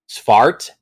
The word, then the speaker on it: Svartalfheim: Svartalfheim. Learn how to pronounce own stuff.